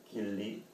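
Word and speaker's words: 吉利: 길리. 우리말 중국말로 발음하면 지리 자동차인가 봐요.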